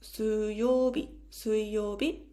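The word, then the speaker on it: 水曜日: Wednesday we write it with the kanji of water and we say it like 水曜日, Wednesday.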